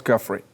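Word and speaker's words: Giuffre: Roberts Guffrey.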